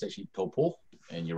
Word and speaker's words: Taupo: it, and you said it's like toe, like the toe you have on your foot, and then paw, like a bear paw, toe paw.